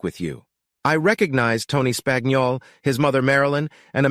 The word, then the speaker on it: Spagnol: Buck I said Cal spagnol he replied he pronounced it like spaniel clearing up a small mystery and we